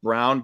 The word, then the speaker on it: Braun: Ron but of course I guess they pronounce it brown but I'm gonna still pronounce it Broad brings me back to